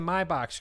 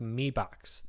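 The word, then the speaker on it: Mi Box: and said in China Mi said me like with an e on it so um I am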